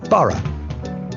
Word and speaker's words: Borough: great river is the thames greenwich leicester square borough one of the best ways to really discover